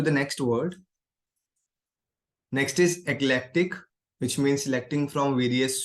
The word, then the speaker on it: eclectic: So when you are pronouncing this word, you can feel selective word because eclectic and selectic is kind of similar sounding word.